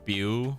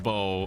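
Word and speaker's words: Beau: And I thought for whatever reason it was pronounced like Bu or something, like spew or bu, but no, it's pronounced bow.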